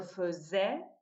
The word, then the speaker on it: faisais: racine se prononce feuse, comme si c'était un E avec la bouche devant. Et ça, qui s'écrit de manière identique, se prononce est. En général, AI se prononce est, non? Donc, je faisais, tu faisais, il faisait,